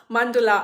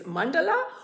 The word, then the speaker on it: mandala: Today it's all about sarees and mandala art, as in Indian style of pronouncing is mandala, or the Western style is mandala. So whichever you do it, it's a noun, so you can pronounce it anyway.